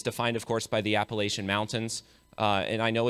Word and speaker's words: Appalachia: It's defined, of course, by the Appalachian Mountains.